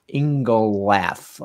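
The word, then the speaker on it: Ingenlath: So getting back to electric vehicles in, the guy who runs Polestar, Thomas Ingolath, I think his name is pronounced. John's nodding his head. Yes, so that seems to be his name.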